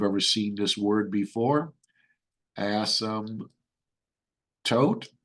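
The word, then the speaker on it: asymptote: seen this word before ASM tote the p is silent right horizontal ASM toote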